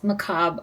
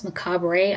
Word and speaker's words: Macabre: I know that I pronounce macab. I want to say macab, but I know it's macabra.